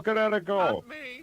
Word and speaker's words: Kinetico: You should have remembered kinetic as in kinetic energy with an O on the end.